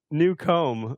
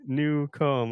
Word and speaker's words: Newcomb: It's new comb." Like new comb.